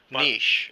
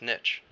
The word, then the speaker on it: niche: everybody looks forward to Naish yeah often mispronounces niche yeah fun factoid oh